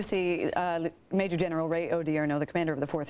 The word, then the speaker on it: Odierno: for those of you who don't know General odierno pronounce odierno o-d-i-e-r-n-o first name Ray he is a major